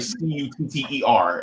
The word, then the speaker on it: Qatar: But yeah, I mean, I think it's Qatar. I would Qatar? say Qatar, or I would say Qatar. Yeah, I think it's like it's pronounced like Cutter.